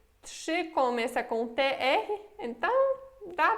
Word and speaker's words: trzy: Olha que a gente pronuncia esse RZY como J. Aqui, como temos T, temos trzy, como se fosse sh, trzy, ok?